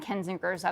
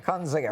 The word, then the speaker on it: Kinzinger: Kunzinger. You're not sorry. Kinzinger. No, both of you are It's wrong. a hard name to pronounce. It is not. Kinzinger.